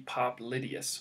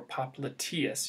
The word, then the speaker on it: popliteus: And the other muscle here is the popliteus, or popliteus. You might hear it pronounced that way as well.